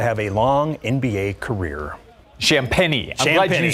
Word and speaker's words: Champagnie: Well, it's similar to champagne in spelling, but that's what I thought. Champagnie. Yeah, champagne is what I was going to say. A fine champagne.